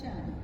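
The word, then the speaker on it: Cheng: So like the pronunciation you said is Jen. Chen. Chen. No, it's Chen. Chen. C-H-E-N-G.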